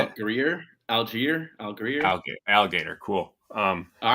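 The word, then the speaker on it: Allgeier: tyler how do you say it greer algier al greer okay alligator cool um all right um so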